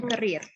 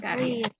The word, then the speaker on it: career: Career ya, bacanya career, bukan karir. The lyricist has been writing realistic song since the beginning of his career.